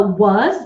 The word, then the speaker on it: was: you see okay a was W uz w uz was even though we have English spelling has an S it's pronounced with the Z his HIC these th